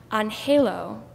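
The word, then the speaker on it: anhelo: Advent unfailingly embraces me there's this word in Spanish pronounced on halo which means longing Advent is a time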